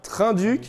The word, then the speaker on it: Trinh-Duc: entière alors oui j'avais raison par contre on prononce bien trin duc c'est même le joueur qui est qu'il le